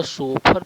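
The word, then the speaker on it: chauffeur: CHA, तो इसका शोफर pronunciation होगा। फ्रेंच शब्द है।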